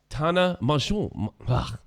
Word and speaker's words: Tana: say her name yes yes de serious it's Tana it's like mjo moo moo I could do